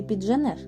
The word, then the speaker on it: підженеш: частиною коренів цих слів проте у випадку коли в звукосполученні Дж буква д є частиною префікса наприклад як у слові підженеш а наступна буква ж належить до кореня цього слова злитої вимови звука Дж не буде а матиме місце збіг приголосних звуків д Та ж на межі префікса і